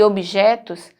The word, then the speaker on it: objetos: E objetos, o b, ele é mudo.